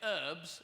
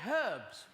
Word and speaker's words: herbs: And you say herbs, and we say herbs. Because there's a fucking H in it.